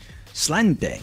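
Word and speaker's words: Sláinte: Slainte. Slainte. I might be mispronouncing that. I think it's slainte.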